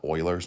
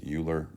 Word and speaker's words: Euler: So this is called Euler's method. Some people mispronounce it as Euler, but it is Euler.